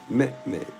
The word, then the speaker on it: Mehmed: He also wrote about and this is this is spelled m e h m e d right met right.